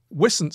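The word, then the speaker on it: wisent: coming and another one is how come the whistance is that how you pronounce it rupert yeah we're since yeah uh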